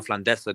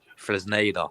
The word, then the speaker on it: Fresneda: I think we're trying to get that Ivan Flandesa guy from Real Valladolid. Fresneda.